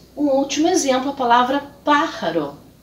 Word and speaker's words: pájaro: E um último exemplo, a palavra pájaro. Pájaro significa pássaro, com a sílaba tônica na antepenúltima sílaba.